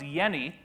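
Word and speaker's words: Jenny: scientist named Dr Hans Yenni even though there's a J in his name you pronounce it without the J sound like a y and he studied what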